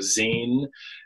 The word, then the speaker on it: zine: it it's its name it's spelled z i n so it kind of looks like Z to some people but it's a Zen maybe some people have